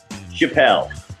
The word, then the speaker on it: Chapell: Chapell. Chapell, sweet. Yeah. Good, yeah, because that's what I've been doing, but I wasn't really sure, so. No, thanks. Yeah, Chapell.